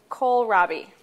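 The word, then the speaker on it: kohlrabi: This is called Cole Robbie. It's spelled K O H L.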